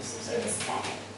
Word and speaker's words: kinesthetic: So the stress is on this syllable, right? Kinesthetic.